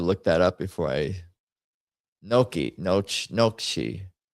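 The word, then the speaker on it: gnocchi: The G is silent. You say you do not say ganaki. The gn makes a soft nasal ny sound similar to the in Spanish.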